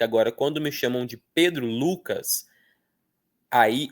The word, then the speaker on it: Lucas: Então, quando me chamam pelo meu nome inteiro, eu escuto mais o U. Ó, Pedro Lucas, eu escuto mais o Lu.